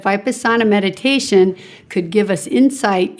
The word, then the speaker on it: Vipassana: So when you think about it, and Vipassana is the pronunciation I learned. So maybe you learned a different pronunciation, but that very word can help people who are familiar with yoga, because we all know the word asana, or a position. So Vipassana has a connection there with seeing reality as it